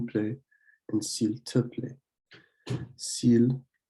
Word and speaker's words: s'il: S'il, you want to pronounce it exactly like you would pronounce the word for the animal. It's s'il.